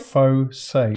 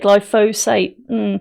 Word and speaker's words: glyphosate: In the UK, the same thing I can't say, glyphosate is sprayed on five phosate phosate glyphosate is sprayed on 5.4 million acres of land every year.